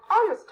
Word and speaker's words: honest: remember we say an honest man because honest begins with the vowel sound o as in orange so we put an before honest the letter h is silent in the word honest some more examples are